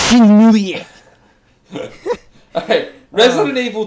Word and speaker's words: Shenmue: Is it Shenmue or Mui? Shenmue. Shenmue 3. That's on my bad. I can't pronounce it. It's Shenmue.